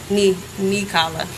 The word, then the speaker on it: Nikala: Nikala. That's how you pronounce it. Like a knee and a collar.